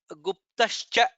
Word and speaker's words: गुप्तश्च: In the second line, Guhyo Gabhiro, Bha is Mahaprana, Gahanah Gupta, Guptascha, Pa, Ta, Sha, Cha, all the four letters to be pronounced.